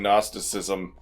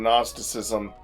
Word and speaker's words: Gnosticism: And I keep having to remind myself that the G in Gnosticism is silent. It is a silent G.